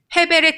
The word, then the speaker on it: 헤벨: 아벨의 이름은 발음할 때 헤벨이라고 한다고 했었죠. 헤벨의 뜻은 잠시 잠깐 나타났다 사라진다 이런 뜻도 있고, 안개의 이슬과 같은 것들, 또 숨을 쉬다 이런 뜻이 있어요.